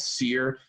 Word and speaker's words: CYR: video for the title track which is called seer spelled cyr by the way pronounced here because it's billy's world you can